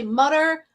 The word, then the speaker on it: Mütter: that this is the Mütter Museum. There is no definitive answer of how he pronounced it. We like to say Mutter, Mütter, Mütter. It's all good.